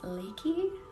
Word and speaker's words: Reiki: that is awesome and Reiki is spelled r-e-i-k-i and actually I believe the correct pronunciation is leaky since um Japanese doesn't really have an R sound call me you absolutely